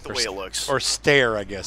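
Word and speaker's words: Steyr: Or stare, I guess. Stare is the way they pronounce it from what I've heard English people saying, oh, yes, that's the stare.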